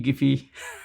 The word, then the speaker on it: Giphy: do you say it is it jiffy giffy i think it really depends on who you're talking to um giphy is the way i would pronounce it and uh the i